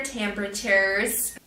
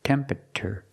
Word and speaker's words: temperature: not pronounced temperature temperature the word is pronounced temperature temp PR CH the last T makes a CH sound like chicken chure temperature this is one of those words that looks like four syllables but we don't say temperature we say three syllables temperature so again